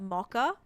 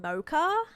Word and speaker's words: mocha: Um cuz in Australia we we pronounce it mocka like with a hard like k like like bo mocka like with a ck ka, right?